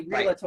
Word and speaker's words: Realtor: No, but actually, that's one of the most mispronounced words. That's so funny. Realtor. Right. There is no A.